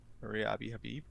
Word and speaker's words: Maria Abi Habib: Maria Abi Habib.